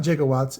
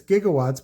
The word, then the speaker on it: gigawatts: one is gigawatts um it's not gigawatts it's gigawatts but it's it's it's g with a soft g right like the difference between gifs and gifs it's it's it i